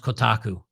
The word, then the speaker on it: Kotaku: Young King says it's pronounced Kotaku.